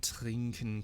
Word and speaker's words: trinke: However, in spoken German, particularly in colloquial German, you may notice that people don't really pronounce the e on the end.